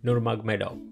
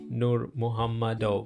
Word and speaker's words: Nurmagomedov: great the legend habib nurmagomedov by the way fun fact what i just said is not how you pronounce his name um the actual way of pronouncing his name is habib nur muhammad and if you don't believe